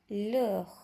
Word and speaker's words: l'heure: Okey, so time dalam bahasa Perancis kita sebutkan l'heure. L'heure. Okey, kalau ingat lagi, kita dah belajar sebelum ni huruf H adalah huruf silent letter.